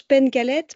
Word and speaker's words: Pencalette: Alors, en breton, on prononce alors je ne suis pas bretonnante mais on prononce Penalette parce que en en Breton, c'est un patronyme Breton et on accentue les consonnes de fin de syllab et c'est un mot